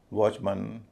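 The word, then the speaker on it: watchman: इसी तरह बैट्समैन, चेयरमैन, वॉचमैन, ह्यूमन, इन सब में MAN का उच्चारण मन होता है।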